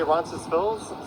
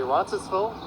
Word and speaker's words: Roncesvalles: Some say Roncesvalles, some say Roncesvalles, and some just say Ronci. I'm partial to pronouncing the S myself at the end.